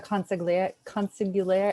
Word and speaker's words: consigliere: And those were coordinated by the consigliere.